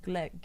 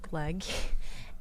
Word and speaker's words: gløgg: drink in the Christmas time, and it's called gløgg. And that's Do I say it right? Gløgg? yeah, gløgg.